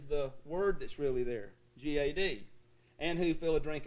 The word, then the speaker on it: Gad: class learned that right g.a.d in hebrew does not rhyme with bad mad or lad okay in hebrew it rhymes with rod sod and nod the hebrews would pronounce